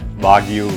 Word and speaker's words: Wagyu: I think there's a reason why Wagyu rhymes with thank you because thank you Wagyu.